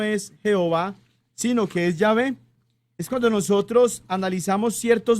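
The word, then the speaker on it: Yahvé: están tan seguros ahorita de que el nombre de dios no se pronuncia jehová sino llave entre otras varias razones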